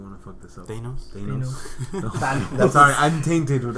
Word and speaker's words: Thanos: Thanos. No. Sorry, I'm tainted with... I have family. Tantos. That food Tantos? It's Thanos, by the way, not Thanos.